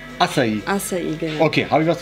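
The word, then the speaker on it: Açaí: Acai. Das C spricht wie ein S aus. Acai, genau.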